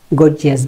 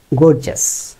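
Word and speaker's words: gorgeous: এক্ষেত্রে খেয়াল করবেন, জিয়াস বলতে কিছু নেই, সব কটা জাস। তার মানে গর্জাস, তার মানে রিলিজিয়াস, তার মানে প্রেস্টিজিয়াস, প্রেস্টিজিয়াস।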